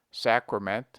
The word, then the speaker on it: sacrament: We pronounce sacred with A long, sacred, but the derivations are properly pronounced with A short, sacrament, sacrifice.